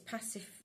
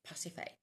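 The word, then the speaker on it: Pasiphaë: p h a e so it's pacif CU pH is f isn't it pacif a or pacifer because it's Greek the Greek a I don't know pacif so this is a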